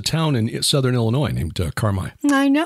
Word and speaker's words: Carmi: There's a town in southern Illinois named Carmi. I know. That's how they pronounce it there. It's Carmi.